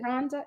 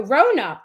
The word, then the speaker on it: Rona: right rhonda okay um is it rhonda no rona i'm saying rhonda i apologize like i didn't see the writing it's brona rona rona i'm sorry i said your name wrong like 14 times rona is that